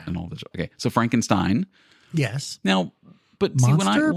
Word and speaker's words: Frankenstein: Frankenstein. It's pronounced Frankenstein.